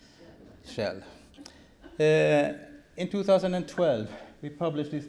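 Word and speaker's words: Kjell: And I used to say, if you know how to pronounce this oil company's name, Shell, then they know, then they...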